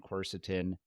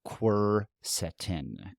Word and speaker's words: quercetin: So quercetin. And we're pronouncing it the way we think it is. I didn't actually look in to see how it should be phonetically pronounced, but quercetin seems right.